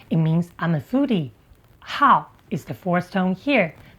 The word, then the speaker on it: 好: Today, we're going to look at five characters often mispronounce. Let's start with how.